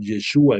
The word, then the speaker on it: Yeshua: nombres como por citarte el propio Jesús que en hebreo lo pronunciaban Yeshua en arameo y que el significado es Dios salva como él.